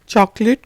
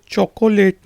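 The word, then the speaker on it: chocolate: चॉकलेट को चॉकलेट, यहाँ पे जो ओ है वो साइलेंट है, ये चॉकोलेट नहीं है, ये है चॉकलेट।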